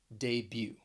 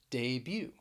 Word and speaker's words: debut: that ooh sound womb we're going to talk about a silent t that you will find at the end of some words so the first word